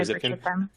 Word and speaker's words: Zipkin: I believe it's pronounced Jagger or Zipknight. Do you know those terms? Yeah, Jaeger or Zipkin.